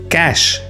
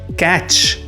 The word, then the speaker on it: cache: The e at the end is silent. We do not pronounce it.